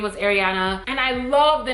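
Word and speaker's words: Aireana: everyone her name was ariana and i love the name ariana again not ariana but ariana a-i-r-e-a-n-a ariana i love the name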